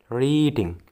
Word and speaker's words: reading: Reading biasanya pada umumnya memang hampir sama dengan mengendarai, riding. Tapi kalau membaca, reading, itu cara bacanya reading, bukan riding.